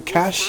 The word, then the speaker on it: cache: cool we've got a proficiency cachet or cash if you want to pronounce it that way yeah go uncle a